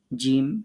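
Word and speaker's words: ج: জিহ্বার মধ্যখান তার বরাবর উপরের তালুর সাথে লাগিয়ে জিম শিন ইয়া এগুলো শক্ত করে উচ্চারণ করতে হবে শক্ত করে কথাটা আপনাদের মুখ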